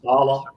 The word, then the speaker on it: Saleh: That Saleh. Is that how it's pronounced? Salah.